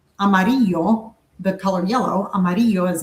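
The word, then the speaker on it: amarillo: Like the double L in Mexico is just sounds like a Y. So like amaro, the color yellow, amaro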